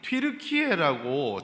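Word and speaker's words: Türkiye: 영어로 이제 한국 이렇게 쓰는 겁니다 터키가 자기들이 뒤르키에라고 자기들은 자기들 나를 그렇게 부르는데 영어로 쓰면 그게 터키라고 읽어지니까 터키하면 뭐가 생각나냐면 저기 그 외국 애들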